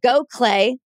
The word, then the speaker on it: Gokhale: now but even though she says go clay because that's how it's pronounced it is g o